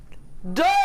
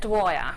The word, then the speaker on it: Dwyer: It's time for the one, the only Dyer. I didn't quite know how to pronounce it. It's Dwyer. Oh, Dwyer. But